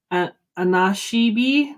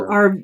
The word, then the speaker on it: Anishinaabe: So I'm going to pronounce this wrong. Anashibi? No, that's not the name of the school. Anashiba? Anishinaabe. Anashinabe. Okay. Yeah, Yes. So Anishinaabe.